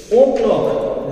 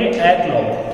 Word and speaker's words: o'clock: फिर से बताऊंगा कि ये ओ क्लॉक नहीं है, इसे हम प्रोनाउंस करेंगे ए क्लॉक।